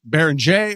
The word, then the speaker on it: Beringer: Uh, by the way, is it Baron Jay or Baroner? I've heard announcers use both. It's uh it's Baron. I said Baron. Yeah. Yeah. Is the French pronunciation.